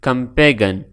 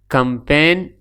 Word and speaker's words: campaign: silent hey silent hey is it pronounced me pronunciation campaign not compaging campaign is the right pronunciation of Muhammad English silent